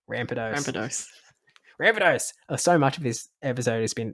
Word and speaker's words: Rampardos: Yeah, Ramparos. Oh, Rampardos. There's no vowel in between the R and the D. Rampardos.